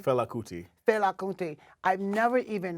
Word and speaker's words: Fela Kuti: How you pronounce his first name? Fela Kuti.